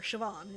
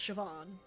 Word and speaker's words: Siobhan: out of America hallway SE Sean Shian or sioban it's pronounced Siobhan what a menacing name says here that she